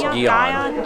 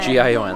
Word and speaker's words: Gion: I believe it's pronounced Gion. Gion. Gion. I think it's Gion, which is another shrine.